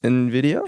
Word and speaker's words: Nvidia: it's pronounced Nvidia.